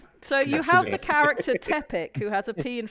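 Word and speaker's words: Pteppic: in front of it the p is silent yes so you have the character tepic who has a pee in front of it so it's sort of tepic it's it's just It's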